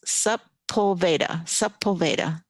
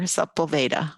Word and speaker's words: Sepulveda: Okay, Debbie Wolgamoth says Sepulveda. Thank you, best nanny ever. Sepulveda.